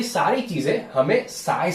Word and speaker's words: psi: The pronunciation is PSI. इट इज नॉट PSY. It is not Gangnam Style Singer PSY. It is not like that.